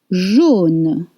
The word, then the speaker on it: jaune: Jaune, with O sound.